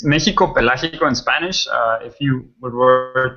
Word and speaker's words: Pelágico: Can you, Giro, can you actually help me with the pronunciation of that, because obviously I'm completely butchering it? Sure. It's Mexico Pelágico in Spanish.